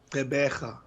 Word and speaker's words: Gqeberha: Gqeberha. Gqeberha is from South Africa, Port Elizabeth, which has just been renamed to, I forgot again. What is that? The new name of Port Elizabeth? It's Gqeberha.